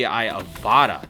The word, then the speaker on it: Avata: Here is the new DJI Avata. That is how you pronounce it, by the way.